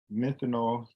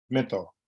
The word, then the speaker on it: menthol: So if I'm saying it right, methanol cigarettes, let me just, I hate my shit wrong. Menthol. I know I was saying it wrong.